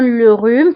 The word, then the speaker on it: le rhume: وانتبهوا أيضا le rhume فكنكتبوها بإف أش.